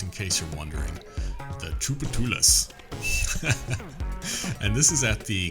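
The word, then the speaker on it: Tchoupitoulas: four teenagers had come in to try the Troopa tooless sundae challenge that's how you pronounce that by the way just in case you're wondering the troupe of tunas and this is at the Creole Creamery and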